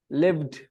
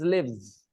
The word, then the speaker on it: live: If you are confused between the pronunciation, then remember the first one, Live, you pronounce it with soft tongue, live. Soft tongue, live. And when you say Leave, your tongue is hard, leave.